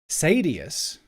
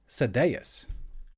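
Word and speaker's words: Sadeas: um one of the high princes and the Americans I think they called him Sadius but I think the way cooler pronunciation is Sadayas.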